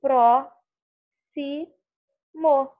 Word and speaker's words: próximo: Bom, na palavra próximo, nós temos aqui, eu falo o som do pró, si, mo. Então, por isso, eu tenho a mesma quantidade de letras e fonemas.